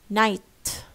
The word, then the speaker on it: night: يعني we do not pronounce it we pronounce it, you know, it's called healthy because you do not release air.